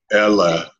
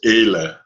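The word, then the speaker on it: אלה: And again, you're going Ella. It's Ele. Ele. Ele. Okay. Ele. Where's the accent? Ele. Yeah, most Hebrew words, the accent's always on the last syllable, but there are some where that's not the case, and I'm pretty sure that's the case with Ele. I think it's on the first syllable.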